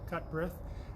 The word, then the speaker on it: Cutbirth: Today, as part of our daily Morning Mingle series, we have the pleasure of speaking with Cutbirth. Did I pronounce that right? You did, Cutbirth, okay.